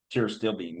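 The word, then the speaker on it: pterostilbene: C Bean oh the the Tio still Bean T still Bean yes thank you yeah what would you say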